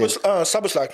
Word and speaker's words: Szoboszlai: Spazolai, or I don't know how it's pronounced. The one at Liverpool, because he literally just came this season. Szoboszlai.